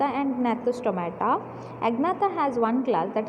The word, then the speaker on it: Gnathostomata: How to pronounce? Agnatha and Gnathostomata.